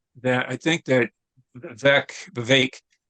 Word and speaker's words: Vivek: I think that VEC Vivek so it's pronounced apparently that rhymes with cake is how I yes